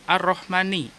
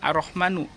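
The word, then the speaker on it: الرحمنِ: langsung aja ke lafadz ar-rahmani ar-rahmani disini adalah sifat dari dapat Allah high sifat 8 Allah dibacanya Bukan arah mana arrohmanu Tapi secara umum di sini dibacanya ar-rahmani Karena Hai arrohmani ini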